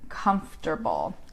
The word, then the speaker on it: comfortable: We would call it a sight word because the sound doesn't correspond to the letters in the word. Comfortable.